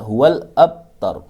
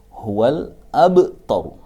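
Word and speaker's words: هو الأبتر: Tidak boleh membaca huwal abtar, tapi harus dipantulkan menjadi huwal abtar.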